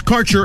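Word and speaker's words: Kaercher: Your connection to quality cannabis insurance services is spelled K A E R C H E R. That's Carter Insurance.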